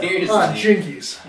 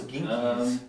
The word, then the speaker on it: Jinkies: Jinkies. I thought it was Ginkies.